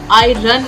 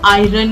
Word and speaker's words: iron: है या लोहा है, इसका प्रोनाउंसिएशन आयरन नहीं है. इसकी स्पेलिंग अगर देखें वो है IRON. स्पेलिंग के अनुसार काफी लोग इसे आयरन बोलते हैं. वो गलत प्रोनाउंसिएशन है. इस शब्द का सही प्रोनाउंसिएशन है आयरन. आयरन. मेरे साथ दोहराइए. आयरन. आयरन. इसमें आर का साउंड साइलेंट है, यानी उसको हम बोलते